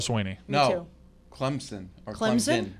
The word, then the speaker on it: Clemson: Clemson or Clemson? Clemson. It's supposed to be Clemson. Yes. No Z. We say it with the Z. Clemson.